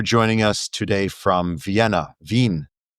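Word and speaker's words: Wien: Vin. Absolutely correct. And you pronounced Vin absolutely correctly.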